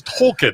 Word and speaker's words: Tolkien: and all the guys are like, "Wait, it's not Token," and they're like, "No, it's Tolkien."